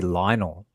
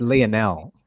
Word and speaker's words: Lionel: Remember how we had this conversation the other day about pronouncing mispronouncing people's names? Yeah. People when people see his name, they say Lionel, but like it's Leonel.